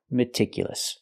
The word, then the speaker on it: meticulous: open meticulous not meticulous I cannot use a long e like green beans I need a short I meticulous a again it's important because this is a stress syllable we have to pronounce